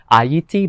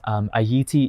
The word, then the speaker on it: Ayiti: In that video I said that Ayiti is the old way, that's how you pronounce Haiti. It's not the old way, it's like the Creole patois way to say it.